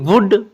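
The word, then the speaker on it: would: silent है next है डब्लू ओ यू एल डी वुड इसको वुड नहीं पढ़ना इसको वुड पढ़ना है क्योंकि डी से पहले एल आया है तो नोट कुछ ऐसे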